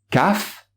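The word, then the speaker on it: ك: allons voir des lettres caf est cof la lettre caf elle est équivalente au cas en france est là être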